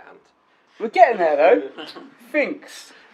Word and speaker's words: Phinx: Installs with Composer, it's easy to use, it's difficult to spell, it's also difficult to pronounce. Just call it Ant. We're getting there though, Phinx.